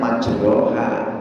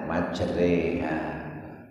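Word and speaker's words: مجريها: Tulisannya majroha, bacanya majreha.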